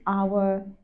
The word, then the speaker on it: hour: follow the rule you expect if the HED is silent use and example an hour an honest man an honest person if the